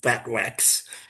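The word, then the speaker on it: FTWC: So Los Alamos had packaged 4 containers called the flange tritium waste containers, pronounced fat wax, in 2007 with quite a lot of tritium, more than 100,000 curies at the time.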